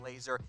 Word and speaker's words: Lazor: That is pronounced Lazor. I know it's spelled Z-O-R. It's pronounced, though, like Lazor.